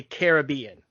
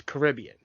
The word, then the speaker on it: Caribbean: released the ride it was they specifically say Caribbean but the area of correct pronuncation is Caribbean and the interesting thing is I don't know